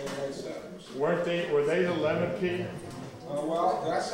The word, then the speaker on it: Lenape: Were they the Lenape? Well, that's how most people would say the name, although it's actually pronounced Lenape.